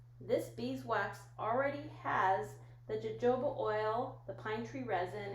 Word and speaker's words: jojoba: how you pronounce it it looks like jojoba or jehovah but it's jojoba anyways now that we